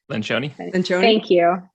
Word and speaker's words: Lencioni: Lencioni.